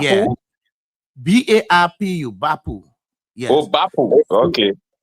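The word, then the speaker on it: Barpu: Yeah, that's the pronunciation. Bapu. It's Bapu. Yeah. B-A-R-P-U. Bapu.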